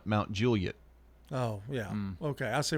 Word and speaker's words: Mount Juliet: Mount Juliet is the proper pronunciation in Tennessee oftentimes, and people who live there call it Mount Juliet.